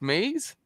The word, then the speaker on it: Mays: so with so is is your last name pronounced Maize yes Mays I